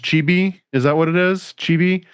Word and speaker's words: chibi: This is what is it pronounced chibi?